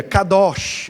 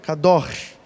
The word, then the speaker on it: Kadosh: separados Santo na bíblia Kadosh é o é o conceito pronúncia Seria algo parecido com cá door né Kadosh que a cultural ali né